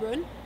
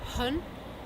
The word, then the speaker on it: run: So for example, instead of saying run, maybe saying hun, or instead of rain, they say rain.